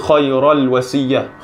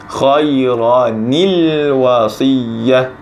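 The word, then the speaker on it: خَيْرًا الْوَصِيَّةُ: Ran masanya kita baca biasanya orang kbc Choirul wasiyah Chosiyah tak bacaan yang salah jadi macam itu nak Bace cari bacaan yang betul adalah dengan membacanya seperti khoironi luas Iya khoironi wasiyah mendatang Bunda anunya semuanya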